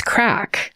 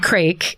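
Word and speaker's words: craic: But anyway, I said crake because that's how it's spelled. I remember now. And several people tweeted and said, girl, it's crack.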